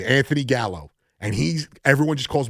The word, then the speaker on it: Gallo: It's just how easy that how as the dumbing down that we do as men because god forbid you know gallow is two syllables as I learned today thanks to the great